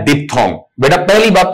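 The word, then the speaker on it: diphthong: भी सीख लेते हैं, बीच वाला एच खा जाते हैं, इस पर हम ध्यान नहीं देते आपका, क्योंकि डिप्थोंग का जो स्पेलिंग है DIPH THONG, DIPH THONG, इस तरीके से बोला जाएगा।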